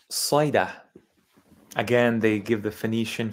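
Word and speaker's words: صيدا: So this is pronounced in Arabic, Saida.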